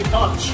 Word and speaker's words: conch: Now if you want to see the words spelled out, C-O-N-C-H, most people say conch. We actually pronounce it conch, K-O-N-K.